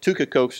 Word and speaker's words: Tychicus: sent two kikos or tychicus to ephesus tucacos is the is the greek pronunciation i sent him to